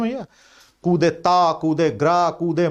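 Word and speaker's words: coup d'état: कू की स्पेलिंग याद है ना भैया? कूदे ता, कूदे ग्रा, कूदे मां।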